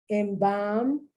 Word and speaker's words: embalm: They don't pronounce the L. Bulk, alms, to pay alms, to give to the poor. Embalm, that's when you die, and they empty you of your organs and they put embalming fluid.